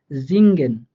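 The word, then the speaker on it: singen: হ্যাঁ, এনজি যদি একসাথে দেখতে পান, ওটা আমাদের অনুস্বার, আমরা বাংলাতে অনুস্বারের উচ্চারণটা যেভাবে করে থাকি ওটার মতো করে হয় আর কি। হ্যাঁ, যেমন জিঙ্গেন, জিনগেন, দেখেন এই যে আমরা মাঝখানে এনজি পাইছি। হ্যাঁ, তো এই জন্য এখানে আমাদের অনুস্বারের মতো করে উচ্চারণটা হইতেছে জিঙ্গেন, জিঙ্গেন।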